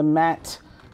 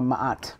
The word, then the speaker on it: Ma'at: Here's the Venus, the Libra, the Mat, and, or Ma'at, really is how you pronounce it, Justice.